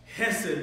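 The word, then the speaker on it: חסד: It's a Hebrew word called hesed. And when you say it, it's very Jewish. You have to kind of act like a something stuck in your throat a little bit.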